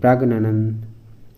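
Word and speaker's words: Praggnanandhaa: Magnus কারসেন তো এই যে প্রাগ্ন প্রাগ্না সরি প্রাগ্নানন্দ প্রাগ্নানন্দা যেটা উচ্চারণ হবে sorry for that then under which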